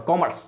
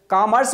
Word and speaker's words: commerce: तो ऐसा नहीं बोलना है, कॉमर्स बोलिए। ओके, और कॉमर्स को कॉम रस मत बोलिए, इसमें तो रस बहुत है, दैट मीन्स मजा बहुत है।